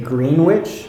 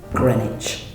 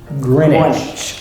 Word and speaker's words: Greenwich: Okay, now that's got a famous museum there and a timeline, okay, but it's pronounced Greenwich. Greenwich. So one E essentially and no W.